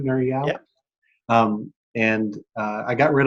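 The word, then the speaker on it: Nir Eyal: Nur Eyal?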